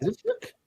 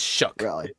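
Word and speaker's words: Shough: No, it's Shook. Actually, that's how it's pronounced. Shook. It is Shook.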